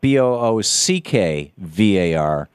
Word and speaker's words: Boockvar: But it's spelled BOOCKVAR, even though it's pronounced as if the C was not there, Boockvar.